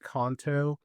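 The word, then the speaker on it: Khantoke: It's pronounced KTO Thai, but it's spelled K H A N T O K E.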